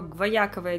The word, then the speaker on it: гваяковое: не знала что такое гваяковое дерево и кстати чисто интуитивно почему-то Я поставила ударение имен именно на я и это оказалось Правильно Потому что Алиса сейчас